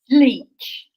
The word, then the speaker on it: Leitch: Leitch. You Leitch. would not believe the mangled pronunciations I've had. I've had Leitch, Leitch, all sorts, but it's Leitch. It rhymes with bleach.